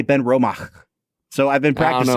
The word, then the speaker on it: Benromach: they have the uh the CH at the end of Ben romach is like aspirated it's not quite as